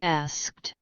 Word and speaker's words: asked: Asked. Diulang lagi. Asked. Asked. Nah, gitu. Asked. Jadi ada juh-nya gitu loh belakangnya.